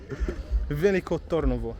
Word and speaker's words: Veliko Tarnovo: of this city thank you i got my pronunciation approved vinico tornovo that's how we pronounce it i swear i